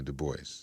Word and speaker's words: Du Bois: No, he pronounced it the anglicized way, Du Bois.